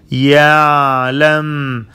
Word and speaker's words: يعلم: يعلم. Prolong the sound of عين.